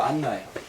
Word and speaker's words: 안나: 한나와 같은 말이에요 여러분들 한나가 헬라 말로 바뀌어서 안나가 된 거예 나예요 나인데 헬라식 발음으로 알렉산드리아 헬라 있잖아요 알렉산더 헬라 발음으로 안나요 이거 우리 가만히 생각해보면